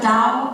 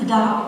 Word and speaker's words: Tao: qing by the way tao is pronounced with a d not a t there's also a movie